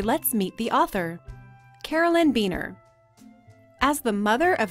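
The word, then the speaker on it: Buehner: Beener is Carolyn Beener's husband, and their last name is pronounced Beener.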